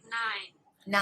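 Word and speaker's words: nein: say no in German German you would say nine nine nine that's like nine it's like the number nine nine I knew that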